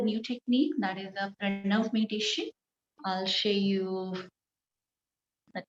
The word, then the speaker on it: Pranav: The pronunciation is Pranav. Pranav. It's not Pranav. It's not na sound. It's Pranav. I know it's very difficult to pronounce the da sound.